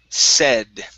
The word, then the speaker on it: said: Let's go to the word said. All right, so instead of a long A sound, like said, this word is said.